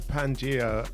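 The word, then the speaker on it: Pangea: are G sick sick so that's Pangia Pangia Festival it's spelled p a n g e a had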